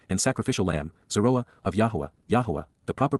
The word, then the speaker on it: Yahowah: And, to whom, Almai, has the Yisra'el, strong arm, protective ram, and sacrificial lamb, Yisra'el, of YAHOWAH, the proper pronunciation of the name of Eloah, God as